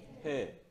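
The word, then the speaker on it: ה: 해 또는 헤이. 예, 어떤 의미 날까요? 히읗 발음.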